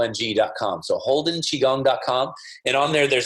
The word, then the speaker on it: Qigong: hardest part of this practice is how to spell it it's qi g ong qi g l ng calm so holdin chi gong calm and on there there's a 30 day